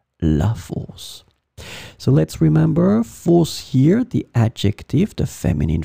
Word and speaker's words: fosse: So let's remember, fosse here, the adjective, the feminine form, it could be the singular or the plural, as we saw, it would be pronounced the same way, fosse.